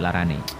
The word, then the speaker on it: larane: Tetapi jika diikuti sebuah sufiks, misalnya ne, maka diucapkan sebagai larane.